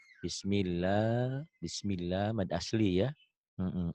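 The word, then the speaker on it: بسم الله: lam ini jadi dobel Nah kalau ada pemanjang ini ini tanda panjang nih ini tanda panjang ini mad asli itu tuh jadi panjang tuh jadi panjang bismillah bismillah bismillah mad asli ya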